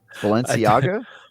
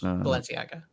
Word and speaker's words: Balenciaga: to write Balenciaga Ganon was making people thirsty valenciaga balena have no idea that is the correct pronunciation yes Balenciaga Balenciaga what what' that be I think it's